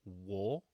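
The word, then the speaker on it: を: pronounce it out loud It's pronounced very similarly to just the character o without the W sound um to be completely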